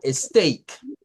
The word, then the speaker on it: steak: e no en todas con el diptongo de la ea hay que tener mucho cuidado porque la ea cambia de sonido dependiendo de la palabra en la que estemos en este caso de esta palabra de un filete suena a steake Okay vamos a terminar